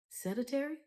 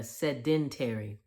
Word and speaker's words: sedentary: Seditary. Is it seditary? Pest. I was close. I was literally off by a letter. Sedentary.